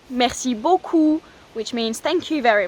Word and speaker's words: beaucoup: And you can also say merci beaucoup, which means thank you very much or thanks a lot. Merci beaucoup. Again, remember those words, those sounds, o and ou, beaucoup.